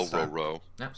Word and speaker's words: Dororo: Dororo.